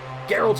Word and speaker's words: Geralt: witcher geralt of libya got the pronunciation right that time i promise i'll try and not call him gerald from here on out geralt of rivia we'll be back in